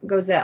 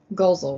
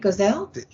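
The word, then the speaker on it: Goelz: Henson Frank G Dave goesa I always say his name wrong it's always it's goel right gelle Dave gos I gos yes I know I always said it wrong Jerry Nelson and Richard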